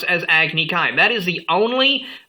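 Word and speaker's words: Agni Kai: battle between two firebenders is called agne Kai not agik key it is agnik Kai I don't know what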